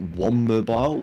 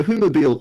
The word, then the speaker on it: Whomobile: think so so yeah sometimes people pronounce it one mobile which is weird because it like gets rid of the Haitian ads and extra M next to the other in weird also it's so humobile or whom mobile would